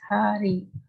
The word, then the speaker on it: Hare: The words Hare, pronounced as Hare, Krishna, pronounced Krishna, and Rama, rhymes with drama, are Sanskrit words.